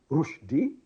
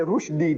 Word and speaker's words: Rushdie: And Rushdie, see, Rushdie should be spelled rightly, the way we pronounce. Rushdie, R-O-O-S-H. Rush. D-E-E-D. Rushdie. But no, you see, the father anglicized the name. R-U-S-H. Rush. D-I-E. What is D-I-E? Die. Rush. Die. Die.